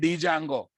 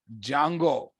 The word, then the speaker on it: Django: Don't say Django. D is small letter. D is silent, boss. Django.